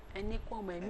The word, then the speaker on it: Enikuemehin: But if you are to pronounce it like the tonation of a Yoruba man, you will use O instead of the E. The last E. Say, yeah. Enikuemehin.